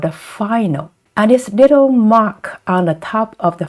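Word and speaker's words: mǎ: And this little mark on the top of the final is the tone. And this curved one is the third tone. So together, and this is pronounced ma, ma.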